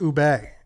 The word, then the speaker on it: ube: Yeah, it's ubi ice cream. Ubi? Ubi? I don't know this word. I ubi. think that's it, I yeah. need Dave to pronounce this. Ube.